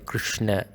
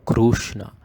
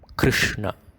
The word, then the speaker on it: Krishna: Krishna, don't make it as Krishna or Krushna. Krishna, Gum.